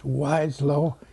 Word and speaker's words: Weseloh: Now, you say Weseloh, right? Weseloh? Well, How would you like it said? there's a story there. It was Weseloh or Weseloh in Germany. Then here it was Weseloh, and I changed it when I was in